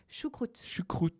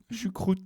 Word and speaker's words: choucroute: And how do you pronounce it again? Choucroute. Choucroute.